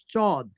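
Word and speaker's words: صاد: তারপরের অ্যালফাবেট হলো চদ। এই চদটা আর সিনটা একটু শার্প উচ্চারণ হবে।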